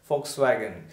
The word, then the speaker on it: Volkswagen: starts with v yeah the spelling starts with v but it is pronounced as F Volkswagen just like this there are some more